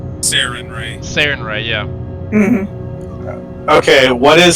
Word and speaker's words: Sarenrae: I think that's how it's pronounced. Sarenrae. Sarenrae, yeah.